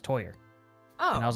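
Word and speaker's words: Týr: but yeah he told me he's like it's pronounced toyer oh and I was like oh I was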